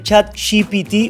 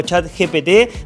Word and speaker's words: ChatGPT: vamos a hablar de chat chipity o chat gpt depende la pronunciación que quieras hacer para aplicar en tus